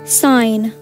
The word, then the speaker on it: sign: Okay, now how about sign? G, definitely, the silent letter.